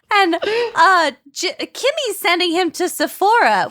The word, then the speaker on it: Sephora: And she sends, and Kimmy's sending him to Sephora, which he thinks is pronounced Sephoria, like the HBO show So, Euphoria.